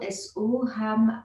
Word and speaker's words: Soham: Et qui s'écrit donc So, S-O, Ham, H-A-M, Soham.